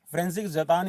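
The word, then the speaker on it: František: मैं दोबारा से लिख रहा हूं आप इसकी स्पेलिंग देख लीजिएगा फ्रेंस जतानी इसको बोला जाता है और लिखने में ये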